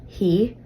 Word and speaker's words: fidh: Notice that a suffix, fidh, pronounced he, was added.